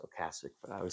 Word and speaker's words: Ocasek: The Rick Ocasek, I know it's pronounced Ocasek, but I would say Rick Ocasek joked that this should have just been called The Cars' Greatest Hits, but this is The Cars, right?